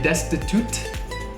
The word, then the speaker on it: destitute: It has a T at the end. Remember, when we have T endings and a lot of different endings in English, we stop the air with our tongue, but we don't need to say a clear T. So we don't say destitute, we say destitute.